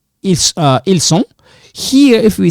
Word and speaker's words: ils: So if I say ils sont, for example, if I say ils, right? Ils sont, okay? Ils sont. In this case, this one doesn't sound, it's silent. You don't pronounce it.